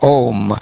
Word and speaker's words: Om: are the shelter of the syllable ohm which consists of three letters a you M Oh Father of all